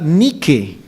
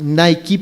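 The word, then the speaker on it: Νίκη: empresa de zapatillas no Nike o como la pronuncian eh También Los Americanos Nike pero en griego es nique esa es la palabra original y para los griegos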